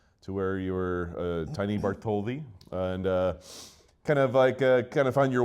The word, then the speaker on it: Bartholdi: But today, Art Parman, by the way, you fucked me up, Justin Young, and a very special guest, Joe Bartholdi.